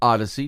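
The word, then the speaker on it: Odysy: here says welcome to Odyssey OD ysy we pronounce it Odyssey just like ODU is sui and it's your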